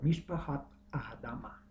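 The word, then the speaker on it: משפחות האדמה: Las llamó las familias de la tierra, pronunciado en hebreo Mishpahat Adama.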